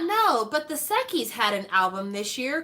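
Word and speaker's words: Sechs Kies: but if you're interested look up the group sekis it's spelled s-e-c-h-s k-i-e-s and look up their song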